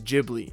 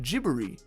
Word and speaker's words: Ghibli: pronunciation I use is Ghibli and the pronunciation I heard from the clips is more like gibbery these are the Japanese